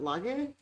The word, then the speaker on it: Laje: and i am here with how do you pronounce it lager okay nice nice i like it um who